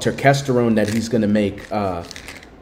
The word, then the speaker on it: Ecdysterone: Ecdysterone. Ecdysterone.